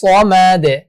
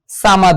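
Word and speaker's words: صمد: Second আয়াতটা যদি একটু দেখি, আল্লাহুস সামাদ, আল্লাহুস সামাদ, সামাদ এভাবে উচ্চারণ হবে। আমরা অনেকে কিন্তু এই ভুলটা করি যে সাদকে সামাদ বলে ফেলি, কিন্তু এটা উচ্চারণ কখনোই সামাদ হবে না, এটা উচ্চারণ হবে সমাদ।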